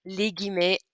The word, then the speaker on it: les guillemets: you're quoting somebody's words, it's pronounced les guillemets.